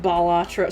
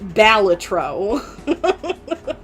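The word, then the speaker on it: Balatro: Like, do you say it bolatro? So do I. But apparently the dev doesn't like it when people call it bolatro because according to him it's pronounced balletro.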